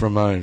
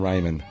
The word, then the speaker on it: Ramon: your own phone pronounce Ramone from The Ramones yesterday at during the game or mon or Saturday every was calling him Raymond so it is Ramon I I like Ramon better